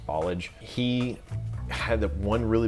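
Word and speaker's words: Ballage: I believe it's pronounced Bollage.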